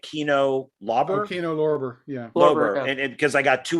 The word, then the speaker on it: Kino Lorber: Kino Lorber.